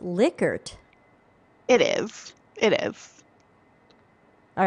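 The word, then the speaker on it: Likert: blatts was just posting on linkedin that it's pronounced lickert it is it is all right that we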